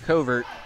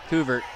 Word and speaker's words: Couvert: spike comes down by coat covert couvert yeah couvert I know I know the name just it doesn't always you know my brain decides hey it's spelled differently up so it overwrites it here's one with a